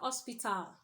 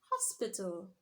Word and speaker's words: hospital: should do what biblical a word like Ospital should be what hospital okay global shouldn't be